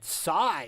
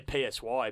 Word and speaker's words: Psy: by the great man sigh sigh I used to say psy but um apparently so apparently it's so let's how you say it and of course why